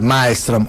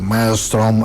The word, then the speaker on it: Maelström: pues lo pronunció así algunos le decían literal malstrom otros le dan una entonación media anglosajona malstrom algo por el estilo supuestamente no sé si